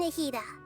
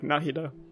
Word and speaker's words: Nahida: Oh yeah, I'm Nahida. Nahida, okay, so that's how I pronounce it. In my head I was like Nahida.